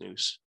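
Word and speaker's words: nous: the noetic comes from the greek word noose n-o-u-s it's pronounced news and it's contained in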